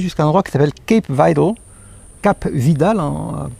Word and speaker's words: Cap Vidal: On peut monter jusqu'à un endroit qui s'appelle Cap Vidal, prononcé à la française.